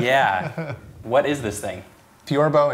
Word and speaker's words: theorbo: what is this thing torbo in English torba or kerone in